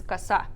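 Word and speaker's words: коса: But the pronunciation of this one is kasa, Kasa.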